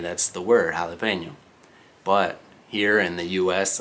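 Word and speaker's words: jalapeño: You guys are like, well, obviously you pronounce the ñ, that's the word, jalapeno. But here in the US, a lot of people who have no idea about other languages, they'll say jalapeno, okay?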